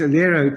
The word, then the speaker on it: Elero: Yes, Elero. Think of Aero with the EL in front of it.